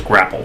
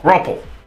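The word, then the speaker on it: graupel: time I encountered grapple which I think I was mispronouncing as grapple but gruple never seen before um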